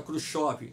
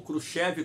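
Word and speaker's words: Khrushchev: quando então o presidente Nikita cruchi da União Soviética ou cruchev como queiram pronunciar aceitou a proposta do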